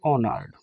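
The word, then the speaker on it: honoured: आगे आप लिख देंगे ऑनर्ड एच साइलेंट रहता है मेरे प्यारे साथियों ऑनर्ड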